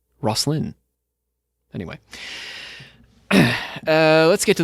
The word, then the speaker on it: Rosslyn: me a little video telling me how to pronounce that and i'm hoping that i uh got it right rosslyn anyway uh let's get to those templar legends